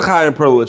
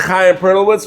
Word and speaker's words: Chaim Perlowitz: So I have to mention the Chaim Perlowitz show when you come here to get a free drink on the house from our Taras the barmaker. All right? You mentioned Chaim Perlowitz, you get a free drink when you come in here.